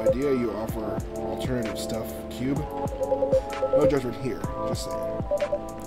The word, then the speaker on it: Cube: simple by the way he is pronounced Cube not Club Q as in c-u-b-e Cube remember that now